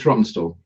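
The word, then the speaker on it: Rawtenstall: It's just like pronouncing. It's Rottenstall.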